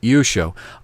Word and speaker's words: Yeshua: Yeshua, not Yeshua or any other pronunciation. Yeshua.